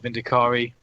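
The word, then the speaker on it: Vindicare: if you've got some snipers or vindikari to pronounce it correctly or uh some eliminators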